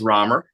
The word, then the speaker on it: Rammer: worries um I'm gonna corrected two times it's pronounced Romer it's all right okay it's way more fun